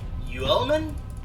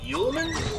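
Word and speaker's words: Uelmen: guy called matt uh you element yulman it's spelled kind of strangely um yeah he's kind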